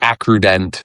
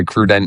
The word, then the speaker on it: AccruDent: Yeah, this is a I mean you and I both know we get Accruent or Accrudent. The people are always confused how to pronounce it. We we say Accruent internally, but y'all can say whatever the heck you want.